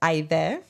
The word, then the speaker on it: Aydee: It is pronounced either.